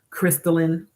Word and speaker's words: Christelyn: Cynthia G, Crystalline Kerosene, which is spelled Christelyn, and her last name